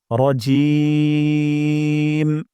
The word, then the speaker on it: রাজিম: সহজ হয়ে যাবে এবং জিম এখানে আমরা তিন আলিফ পরিমাণ অর্থাৎ চার সেকেন্ড পরিমাণ লম্বা টান দিব রজিম রজিম আমি সম্পূর্ণটা আলিফ